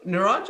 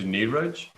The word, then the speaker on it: Niraj: So Niraj is actually, definitely acceptable, but I think the somewhat more phonetically accurate one is Niraj.